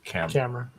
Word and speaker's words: Camara: Neil Camara or Camera. Is it? Okay. Yeah, he said camera.